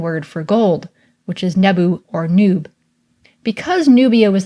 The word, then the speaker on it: nbw: These are N, B, W, and we pronounce this today as Nebu, and can be used in a variety of words.